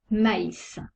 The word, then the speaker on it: maïs: exemple le très bas il sépare de voyelles pour bien prononcé distinctement les deux lettres exemple maïs on prononce le a et le y sent le tréma la prononciation est différente